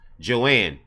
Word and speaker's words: Joanne: decided not to run Joe Mayer whose name is pronounced Joanne didn't mince words when contacted